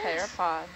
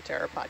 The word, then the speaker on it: pteropod: Pteropod has a P in it. Kind of like tinafore with its C.